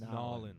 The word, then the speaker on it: New Orleans: New Orleans, Nolans. Nolans, Nolans. Louisiana, Nolans, there's no R.